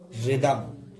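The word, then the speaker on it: rhythm: ठीक है, शुरू में आर एच हो तो एच का उच्चारण नहीं होता, यानी शुरू में अगर तुम्हारी आर एच हो गए तो एच तुम्हारी कहा रहेगी, साइलेंट। रैपसॉड, रिदम, तो इनमें कहा रही तुम्हारी एच साइलेंट रहेगी, एच साइलेंट रहेगी।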